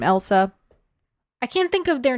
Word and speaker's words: Ilse: Is it Elsa? It's how do you spell her? E-L. Because it does sound like Elsa, not to be confused with the queen from Frozen.